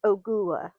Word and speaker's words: Ogua: Yes, I did Google how to pronounce it and it did say you have to enunciate the middle part, goo- uh. It's like so, it's Ogua.